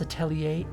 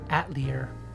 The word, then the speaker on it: Atelier: He'll usually be like, alright, let's do some Atelier game. Oh, by the way, Bun Bun loves it when you pronounce Atelier Atelier.